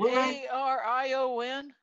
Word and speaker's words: Arion: got airon air arion it looks like it's arion okay it's awesome a-r-i-o-n a-r-a-r-i-o-n yeah that's arion you pronounced it right okay then got um